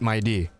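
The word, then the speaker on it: Mydei: I was mentioning My Day to her, and she said it's actually pronounced My D, which I was just like, what? It's not My Day, it's My D.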